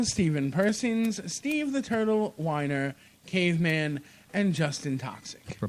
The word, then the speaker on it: Wiener: His name is spelled Wiener. Weiner. Spelled Wiener. But it's Weiner.